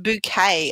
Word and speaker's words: Bucket: but that's not correct Hisense bucket pronounced bouquet I understand or that's